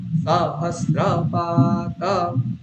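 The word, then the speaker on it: সহস্রপাৎ: হ হচ্ছে এইরকম, তাহলে সহস্রাক্ষাহ, সাহস, তারপর আবার সকারের নিচে দাগ রয়েছে, তাহলে তারপরে স্রতে উপরে রয়েছে, তাহলে প্রথম সকারে আমি নিচে নামিয়ে দেবো, কিরকম হবে, পুরুখাহ সহস্রাক্ষাহ সহস্রপাত, বুঝা যাচ্ছে কিরকম হলো, পুরুখাহ সহস্রাক্ষাহ সহস্রপাত, বলুন।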